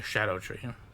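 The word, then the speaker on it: Scadutree: turn into the SC the shadow tree yeah that's apparently how it's pronounced like Shadow which makes sense in the childhood Mula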